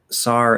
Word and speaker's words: tsar: princesses um okay then sar and serena so it's a ts sometimes we'll say it's r sometimes we'll drop the t because we don't actually have as like a sound combination in english um so in foreign